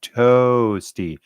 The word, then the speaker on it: Toasty: say my name right it's toasty like toes the little toes at the end of your feet Cadence you you have